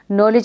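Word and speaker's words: knowledge: नॉलेज में के होता है, लेकिन हम कैसे पढ़ते हैं उसको? हम उसको साइलेंट करके पढ़ते हैं। के को हम साइलेंट कर देते हैं, बाकी आगे का जो भी होता है वर्ड उसको पढ़ते हैं नॉलेज।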